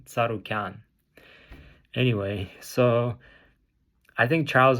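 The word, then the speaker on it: Tsarukyan: Arman saran's last name people say it's aian I I've seen cha sonon say just just basically I don't know I don't even know how he pronounced it but it's wrong it's Arman tarukan anyway so I think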